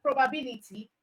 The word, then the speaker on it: probability: And then for probability, the stress is on bill.